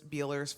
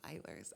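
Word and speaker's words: Beiler's: like I was calling Beelers for like a smoothie year. And someone was like, it's Beilers, actually.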